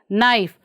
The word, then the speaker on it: knife: How do you pronounce this one? Knife. What are we not pronouncing, children? Yes, K.